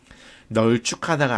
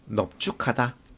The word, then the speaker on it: 넙죽하다: 널쭉하다가 아니고 넙죽하다, 넙둥구이다가 표준 발음이니까 두 번째 예외사항 꼭 익혀주세요.